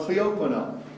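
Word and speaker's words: clioquinol: And so what John Ferber said was that they had done these experiments using a drug called cleoquinol. I'll spell it for you.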